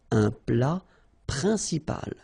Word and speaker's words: principal: then un plat principal, final T here, not pronounced, un plat principal, en, remember, it's nasal, it goes in your nose, un, principal, un plat principal.